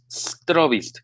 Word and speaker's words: Strobist: Se escribe sin E al principio, más bien Strobist, con B, B de, B de borrego, ¿no?